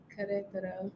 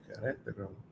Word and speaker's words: Querétaro: Y'all should come to Querétaro, the common side.